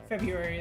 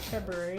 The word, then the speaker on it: February: you on that one the loss of the first R and the pronunciation of February is in part the result of a process called dissimulation or haplology where one of two